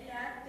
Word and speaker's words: LaTeX: É LaTeX, é igual o LaTeX mesmo, pra gente aqui pronunciar LaTeX.